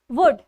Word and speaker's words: would: तो जो ये हुआ हो की इंग्लिश होती है, that is in English is इट इज वुड, WOULD, वुड. एल हमेशा साइलेंट रहेगा.